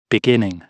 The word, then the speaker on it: beginning: छो जो स्ट्रेस जेको आहे सो हाणे इहो लफ़्ज़ बिगिन ॿिनि पदनि ते मुश्तमिल आहे, बे ऐं गिन ते, इन करे जेको स्ट्रेस पियो हिते ॾिनल आहे, इन करे हिन जी प्रोनाउंसिएशन थींदी बिगिनिंग। सो इनखे बिगिनिंग न चइबो,